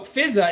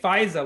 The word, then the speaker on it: Fizza: So Fizza, it's pronounced Fizza, but often people say Pfizer, like the vaccine, Pfizer. FISA, FISA. I get FISA a lot. It's not FISA.